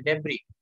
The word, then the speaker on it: debris: Debris नहीं बोलते उसको, एस होने के बाद भी एस साइलेंट है। डेब्री, डेब्री यानी जो कचरा होता है ना, कोई चीज टूट जाए, मकान टूट जाए तो उसका जो मलबा पड़ा रहता है ना उसको अपने क्या बोलते हैं? डेब्री बोलते हैं। एस आता है लेकिन एस साइलेंट।